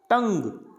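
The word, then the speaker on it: tongue: टंग, क्या बोलना है, टंग, तो इसको यू भी यहाँ पे साइलेंट रहेगा।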